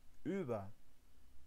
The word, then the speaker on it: über: مثال يمكنكم نطق هذه الكلمة بشكل صحيح، über.